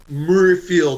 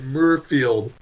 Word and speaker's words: Muirfield: to agree with you Murrayfield I don't wanna say it right Muirfield York Muirfield yeah what's it like like the John Muir Trail I guess I know what the